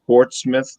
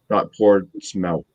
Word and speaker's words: Portsmouth: So everybody that's not around New Hampshire, it's Portsmouth, not Portsmouth. No, thank you. Even though it's spelled that way.